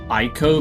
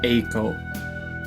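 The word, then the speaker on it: Eiko: I keep calling it Ieko because that would be the German way to pronounce that even though it's Ako.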